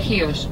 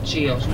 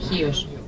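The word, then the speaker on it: Χίος: español, en inglés, pero en griego se escribe con X, y el X en griego se pronuncia como el J en español. Chios.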